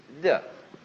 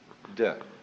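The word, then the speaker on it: 德: Virtue in Chinese is de. We romanize it as T-E-H, de.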